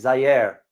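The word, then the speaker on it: Zaire: got got it Zer a lot of people pronounce it as Z no is Zer that is correct and of course you all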